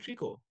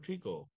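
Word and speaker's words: tricot: এর ট্রিকো টাইপ মেশিনে ইউজ করা হয় এটার উচ্চারণ কিন্তু ট্রিকো হ্যাঁ এটার উচ্চারণ কি ট্রিকো এটার উচ্চারণ হলো ট্রিকো আচ্ছা এটা এটার উচ্চারণ হলো ট্রিকো আচ্ছা তো এখানে দেখো ডিফারেন্ট পার্টস অফ বেটারাল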